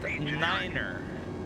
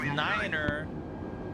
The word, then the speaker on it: niner: The number 9 is pronounced niner because niner is almost impossible to confuse with something else.